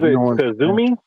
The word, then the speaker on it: Kizzume: Is it Kizzume? Is that how you say it? It's Kizzume. Kizzume.